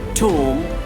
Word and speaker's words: tomb: We have to mute the word, mute the alphabet, mute the letter B silent. So we can pronounce like this: come, bomb, thumb, climb, tomb, crumb and lamb. So here B is silent.